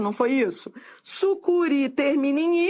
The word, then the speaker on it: sucuri: Sucuri é oxítona terminada em i.